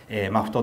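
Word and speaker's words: MAFFT: 発されたこのマフトって読むんですけど、こ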